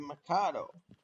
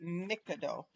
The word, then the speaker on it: Mikado: I pronounce it Mikado. But I've pronounced it like that for years. Well, I know that it can go, both ways. Some people will say Mikado, some say Mikado.